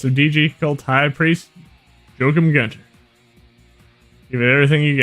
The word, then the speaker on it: Joachim: For some reason, every time I see that name, I think of doing like the Germanic pronunciation which would be Joachim, even though his last name is Gunther, which is clearly German.